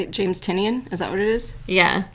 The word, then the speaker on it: Tynion: James Tynion?